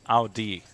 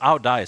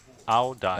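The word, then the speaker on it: áo dài: Codfish says it's pronounced as Ao Di, or Ao Dai, sorry. That's the Vietnamese attire I was referring to. Ao Dai.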